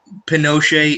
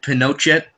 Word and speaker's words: Pinochet: ii know how you spell that's how you pronounce his name yeah Pinochet it's a soft tea but it's a it's like a it's spelled like you would think it's pen no jet but it's pronounced like a soft tea so